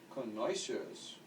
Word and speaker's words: connoisseurs: It's also a combination for great wealth, and many wealthy people are also connoisseurs.